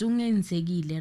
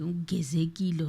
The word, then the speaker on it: Ungenzekile: It's Ungenzekile, right? Yeah. Did you catch that name? Because I heard them pronounce it some in a different way, Ungezekile or something like that.